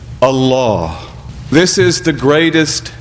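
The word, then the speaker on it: الله: but instead we say Allah and that change in diction is emphasis for the sake of reverence emphasis to indicate the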